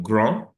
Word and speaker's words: grand: We have François est grand, the D is not pronounced. Blanc, the D is not pronounced. Intelligent, D is not pronounced. But come to the feminine version. François est grand, blonde, intelligent.